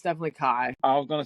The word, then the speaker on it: Ki: Yeah, it's pronounced. I do remember hearing it in the audiobook. It's definitely Kai.